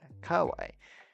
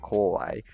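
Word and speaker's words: 可愛い: Pronounce the core bit much louder than kawaii, because of course kawaii means cute and kawaii means scary.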